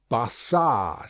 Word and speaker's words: Barsad: "Bassard," said Defarge, making it French by pronunciation. But he had been so careful to get it accurately that he then spelt it with perfect correctness. "Barsad," repeated Madame.